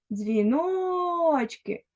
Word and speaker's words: дзвіночки: павукати Отож давай погокаємо дзвіночки куди падає наголос правильно наголос падає на другий склад Тепер давай порахуємо скільки